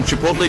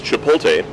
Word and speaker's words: Chipotle: way of speaking because in the midwest We cannot put a t before an L at the end of a word you'll find that everyone pronounces this Chipotle the tea comes first it's like Etc it's Etc you got to put the tea first here we put the tea first Chipotle anyway pulley are ripe